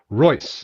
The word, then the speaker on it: Reuss: I get it right Roy the EU is an German oi like in Freud okay so it sounds just like the Royce and Rolls-Royce just spelled differently the Roy okay good